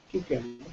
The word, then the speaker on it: cucumber: do we pronounce it I I pronounce it cucumber cucumber cucumber so I have